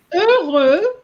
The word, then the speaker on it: heureux: Euro versus euro. Euro as in euro, the currency versus euro. Heureux means happy. Okay, and it's it's the same sound, whereas euros, as you said, the currency, the second syllable is a O, not an E.